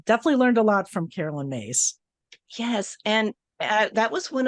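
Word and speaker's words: Caroline Myss: And just to tell you, it is Carolyn Myss. So you know, next time. Make that mistake. I didn't want to correct you. I'm human, people. So everybody makes that mispronunciation because her name is just such an odd spelling.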